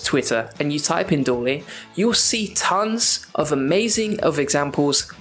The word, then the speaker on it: DALL-E: For instance, a new tool came out recently called DALL-E. I think I pronounced it right.